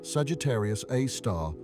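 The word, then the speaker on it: Sagittarius A*: They named it Sagittarius A star, pronounced Sagittarius A star after the constellation where it resides.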